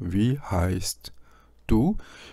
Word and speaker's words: wie heißt du: 묵음은 없는데 이런 상황, 즉 트와 드가 이렇게 겹쳐지는 상황이 있죠. 이럴 때는 이 트를 안 합니다. 그것은 묵음이라기보다는 그러한 경향입니다.